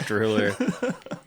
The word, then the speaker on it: DrewLR: Pronounced DrewLR.